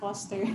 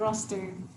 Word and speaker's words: Roster: Matt Foster. Yes, Mr. Matt Not Foster. Matt Roster.